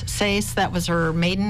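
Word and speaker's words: Seass: She was born in Arthur, and her last name, I don't know exactly how to pronounce it. It's S-E-A-S-S, Sace.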